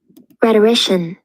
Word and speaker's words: rhetorician: Rhetorician. Rhetorician. That's how you pronounce it, apparently.